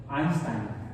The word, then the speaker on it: Einstein: y no Albert Einstein el buena en la pronunciación de alemán correcta es Einstein o eh Por ejemplo la el pitongo eu